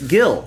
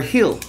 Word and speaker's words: Gil: Yeah, it's Luis Gil, or Hill, I think. I heard the Yankees announcer pronounce it that way.